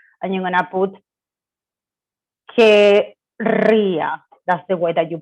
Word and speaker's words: querría: this E out, and you're going to put querría. That's the way that you pronounce it.